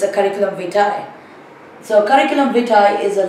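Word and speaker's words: curriculum vitae: It's not a curriculum vite as many people mispronounce. It's a curriculum vai.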